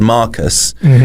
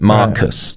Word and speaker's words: Marcus: So if I said Marcus, then Mark is the stressed syllable, and then the us is unstressed, like Marcus, bronzy.